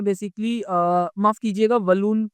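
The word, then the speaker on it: Walloon: हैं बेसिकली माफ कीजिएगा बलून का जो हमारा प्रोनंसिएशन होगा वी A double L double O एन होगा तो वालून या फिर बलून आप इस तरीके से प्रोनाउंस कर सकते हैं तो 40 पर का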